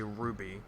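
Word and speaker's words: RWBY: or animation but uh by the way it's pronounced don't know why in the hell does our waby say Ruby just because the main character's name is Ruby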